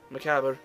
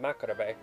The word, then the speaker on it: macabre: Macabre. Huh, I always pronounce it Macarabe.